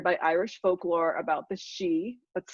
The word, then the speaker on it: Sidhe: I made her into a male fairy, inspired by Irish folklore about the Sidhe, that's spelled S-I-D-H-E.